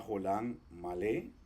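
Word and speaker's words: חולם מלא: al inicio que es la jolan malé es una o larga acentuada como cuando decimos Pobre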